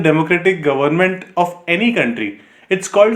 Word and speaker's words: coup: democratic government of any country it's called a military कू ठीक है जो सीओ यूपी है इट्स प्रोनाउंसड एज कू तो ये पाकिस्तान में